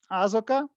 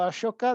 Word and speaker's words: Ashoka: Asoka o Ashoka, depende de cómo lo pronuncia, que era un rey de India, gobernó en el tercer siglo antes de Cristo.